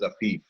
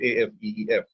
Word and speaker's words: Afif: name is Afif, and it rhymes with 4 different names like Asif and Atif and Hafiz. In fact, I saw a few chats calling me Atif. My name is Afif, Afeef.